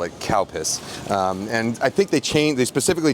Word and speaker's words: Calpis: When I was a kid, in Japanese it's called karupusu. When I was a kid, this was written out as C-A-L-P-I-S, calpis.